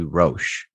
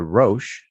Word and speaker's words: Roshe: anniversary of the Nike Roshe. Yes. Ooh. First of all, yes, it's pronounced the Roshe, not Roshe. Yeah. Not Rosh.